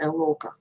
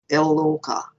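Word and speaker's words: Elorkah: I use one, El Lorca. I use that name down here. Say it again. El Lorca. Spell it.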